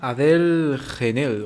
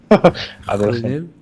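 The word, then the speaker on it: Adèle Haenel: Se llama Adele Genel o algo así, se pronunciará. Adele Haenel.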